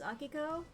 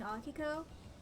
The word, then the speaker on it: Akiko: to again Akiko Akiko the way that my computer pronounces it is Akiko Akiko like real fast I've been saying AKO I don't know man